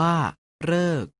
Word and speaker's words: ฤกษ์: เสียง ว่า ทฤษ ดี และ สรึ ออก เสียง ว่า เรอ ใน คำ ว่า ฤกษ์ ออก เสียง ว่า ฤกษ์ มี ส่วน สละ หรือ